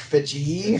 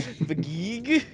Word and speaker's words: Feige: I can just imagine you in your house just like kicking your legs like like Kevin Feige, I'm like Fiji. Feige, Feige.